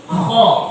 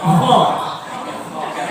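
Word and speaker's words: خ: Cara membacanya ini yang saya garis bawahi Bu, cara membacanya supaya dia tebal, maka dia mesti dibunyikan dengan bunyi O. Contoh, so, do, to, lo, ko, kemudian kho. Harus siker itu ya, kho.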